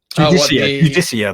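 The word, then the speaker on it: Judiciar: I can't never remember how it's pronounced. Judicia, that's it.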